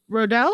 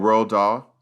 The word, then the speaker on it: Roald Dahl: Didn't he also, Rodell? Is that how you say his name? Roddle? Oh, Roald Dahl.